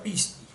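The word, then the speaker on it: πίστη: grafos tiene otra grafía en griego se dice pisti se pronuncia pisti en español también se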